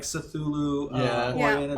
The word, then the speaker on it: Cthulhu: He also brings in some fun like Cthulhu Yeah.